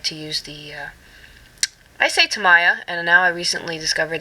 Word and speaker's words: Tamiya: use the ice a tamiya and now I recently discovered that I think it's pronounced Tamia but I'm still saying tamiya so I used to